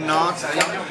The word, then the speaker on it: Nantes: Nantes.